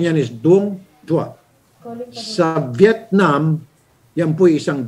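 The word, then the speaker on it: đuông dừa: Pronunciation yan is Dung Dua.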